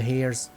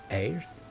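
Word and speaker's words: heirs: slaughtered and spread the hairs airs I don't know how to say that air you don't pronounce the h right I don't know through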